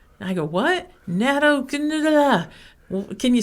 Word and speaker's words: natto: But we do have another natto product called nattokinase, or nattokinase, depends on how you want to say that.